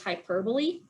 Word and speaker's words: hyperbole: Your English teacher may or may not teach you this word, which is hyperbole. This is parabola. So when you go to English class, remember that this is pronounced differently than parabola, and your English teacher might yell at you for pronouncing this wrong.